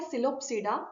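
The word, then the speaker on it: Psilopsida: वो कौन से हैं, सिलोप्सिडा, पी साइलेंट है, लाइकोप्सिडा, स्फिनोप्सिडा एंड टेरोप्सिडा।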